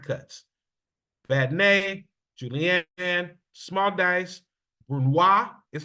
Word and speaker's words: brunoise: Badnay, julienne, small dice, brunoise is how you pronounce that.